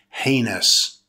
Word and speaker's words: heinous: The word heinous is an adjective made up of two syllables. Stress the first syllable. It's pronounced heinous.